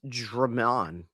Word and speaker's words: Demin: I have to work on the pronunciation of his name because if you read it, it's Egor is the first name. The last name is Demin. But the way it's pronounced is Drummond. Which is weird.